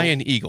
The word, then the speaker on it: Ian Eagle: Warner and I think is it Ian Eagle Ian Eagle yes that's how you say it and then